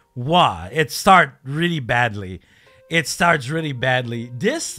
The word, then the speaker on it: は: This little ha that is pronounced wa.